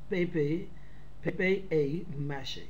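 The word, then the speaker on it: papier-mâché: Now see the next, paper mache, pronounced pepe mache.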